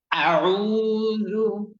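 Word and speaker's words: أعوذ: সবার প্রথমে শক্ত, এর পরবর্তীতে মধ্যখানে আইন অক্ষরের উচ্চারণে চাপ দিতে হবে এবং সবার শেষে নরম হতে হবে। প্রথমে গরম, শেষে নরম এবং মধ্যখানে চাপ। কিন্তু লক্ষ্য রাখতে হবে আ, এই আতে যাতে কোনোভাবে কোনো ক্রমে টান না আসে।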